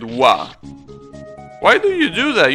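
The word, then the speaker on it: は: __ ] do you use the ha hiragana to you know separate the subject from the rest of the sentence and then you go and pronounce it wa why do you do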